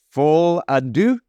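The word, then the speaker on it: Folie à Deux: to start with Joker full Adu I believe it's the way to pronounce that uh from Warner Brothers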